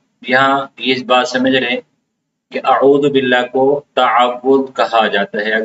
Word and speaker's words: اعوذ: تو بعض لوگ عین کو واضح نہیں کرتے اعوذ پڑھ لیتے اعوذ. تو سب سے پہلے یہاں پہ ہم غلطی کرتے ہیں اعوذ اعوذ. تو عین کا صحیح تلفظ یہ عین کا جو صحیح تلفظ ہے وہ حلق ہے. وسط حلق یعنی حلق کے درمیانی حصے سے عین ادا ہوتا ہے.